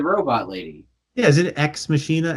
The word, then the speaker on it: Ex Machina: yeah, is it Ex Machina, Ex Machina, Yeah, X.